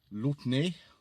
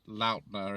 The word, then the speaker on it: Lautner: It's quite a famous film in France, I believe, and the director is called Georges Lautner, or you just pronounce that Lautner if you were British, I suppose, who actually worked with Jean-Paul Belmondo on a number of other films.